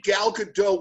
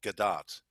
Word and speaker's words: Gal Gadot: gal gadot's name because she's not French she's Israeli and it's actually pronounced gdat so I've heard her